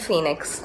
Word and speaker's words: Fenix: Justice for Jayaraj and Phoenix, and that's spelled F-E-N-I-X.